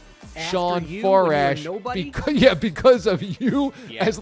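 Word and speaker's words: Farash: It says he's 29, and Sean Forash is actually spelled F-A-R-A-S-H, and his Sean is with a W. So his first name is spelled differently, and his last name doesn't have an O like yours. Again, it's Morash and it's Forash, and it's Sean, and it's both from West Babylon.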